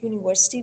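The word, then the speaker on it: university: यहां पर जब हम वर्ड यूनिवर्सिटी को प्रोनाउंस करते हैं यूनिवर्सिटी यूनिवर्सिटी तो जो उसका यू है ना फर्स्ट वाला कैपिटल वो जो हमें साउंड देता है वो वाई ओ यू वाली साउंड है यूनिवर्सिटी उसके अंदर हमें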